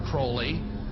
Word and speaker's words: Crowley: he likes to bring have his name pronounced crowley to rhyme with holy and the satanist today